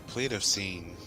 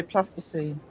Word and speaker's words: Pleistocene: The Pleistocene. Yep, we've seen. So I pronounce that, please just see. Ple- You see? I'm trying not to say plasticine.